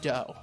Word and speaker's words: Do: They taught the Do, spelled do, but it's pronounced dough, which means the way.